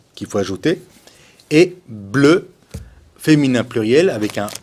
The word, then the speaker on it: bleu: Attention avec le bleu. Il ne faut pas confondre avec l'anglais blue. Non, non, c'est pas blue, c'est bleu. C'est le E français, c'est la bouche bisou.